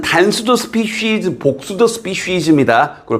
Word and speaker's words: species: species는 이렇게 each나 every는 늘 이렇게 단수 취급을 하고 species는 단수도 species, 복수도 species입니다. 그걸 발음도 주의하시고 species 아니고 species. 알겠죠?